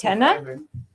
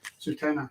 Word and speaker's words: Tsuut'ina: know it's called Tsuut'ina? Well, I'm going, see, this is my bad. I'm going by the pronunciation in red on this little sheet. But I appreciate, thank you. Any feedback, actually, from anyone, if I am mispronouncing. I can tell you this with your reasons. I checked. Tsuut'ina?